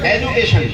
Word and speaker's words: education: एजुकेशन spelling क्या है? EDUCATION। एजुकेशन है। एजुकेशन किधर से आया? अच्छा, ये डीयू का जू कैसे हो जाता है मुझे नहीं पता, वो जाने अंग्रेजी वाले।